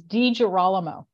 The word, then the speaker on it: DiGirolamo: pronounce it right so how do you pronounce I wouldn't even give it a go but my Southern accent isn't going to give it justice that's okay it's it's DJ rollimo okay all right yeah